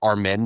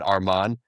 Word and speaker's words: Arman: used to say Armen, not Arman.